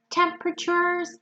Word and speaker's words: temperature: a refreshing light wind temperatures degrees I hope you remember the pronunciation of the wet temperature we have a lot of silence sounds here it's 10:00 sure temperature and